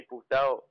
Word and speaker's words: puto: And puta is female. You're a dude. You gotta say puto.